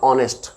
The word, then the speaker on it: honest: फिर ऐसे ही एन ऑनेस्ट मैन, HONEST लिखा होता है लेकिन पढ़ा ONEST ही जाता, ऑनेस्ट, क्लियर।